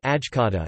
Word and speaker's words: Šajkača: The Šajkača (Serbian Cyrillic: Šajkača, pronounced Ajkata) is the Serbian national hat or cap.